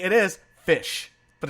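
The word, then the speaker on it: ghoti: g-h-o-t-i but it's pronounced fish wait what yeah GH I know no no no just stop okay g-h-o-t-i it is GH as in tough or enough for the F sound oh oh as in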